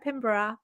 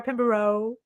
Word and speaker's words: Pinborough: that song but uh every time you say sarah pimbra and america is very sarah pinbaro which i don't mind i'm used to it